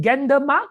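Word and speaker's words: Gendarmenmarkt: do i pronounce this gander mark is that right gentleman mark zhan you have to pronounce it in the french way you have to imagine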